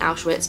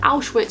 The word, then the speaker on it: Auschwitz: cool something out with obviously they do meet outwits that obviously to kind of emphasize that vulnerability of them they make them pronounce it wrong I thought like if they got the kids to be like Auschwitz all the time it'd be a bit more